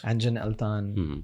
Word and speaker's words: Engin Altan: Okay, so tell me, you have worked with Engin Altan, if I'm pronouncing it right. Yeah, that's Engin Altan.